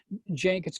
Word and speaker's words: Cenk: with a lot of Cenk. It's spelled CENK.